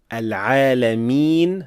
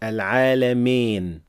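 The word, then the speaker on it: العالمين: Another thing that is usually mispronounced here is adding imala to the end of the word and say Rabbil Alameen, while it should be Rabbil Alameen. So Al-Alameen, not Al-Alamin. These are two different sounds.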